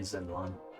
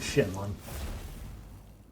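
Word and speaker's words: Shenlong: No treasure here, it's just probably Zinlon. So who or what is Zinlon? And am I technically mispronouncing it? Should it be a shit? I.e. Shenlon. Yep, I should be pronouncing it Shenlon.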